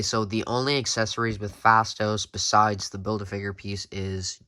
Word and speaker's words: Phastos: marvel legends eternals movies fastos or fastest fastos i think it's fastos i think that's how you say it he's played by